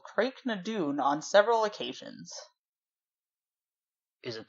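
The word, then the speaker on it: Craigh na Dun: standing stone formation called creek 'no dune you would not believe how that is spelled just say it's both CR aigh space ma space D UN so like this whole time I was thinking it was pronounced differently interesting yeah okay and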